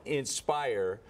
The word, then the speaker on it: nspHire: where do we find that and it's it's pronounced Inspire but it's spelled NSP and the word higher